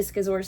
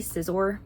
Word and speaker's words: scissor: And then I had a Skizor sticker, which I'll might insert like a little clip of. I had drawn that for my husband because it's technically scissor, but I say it wrong and it's hard for me to change it.